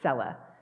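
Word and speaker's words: Selah: it is the word Cella I mispronounced it last week it is Cella the the uh emphasis is on the first syllable and we don't know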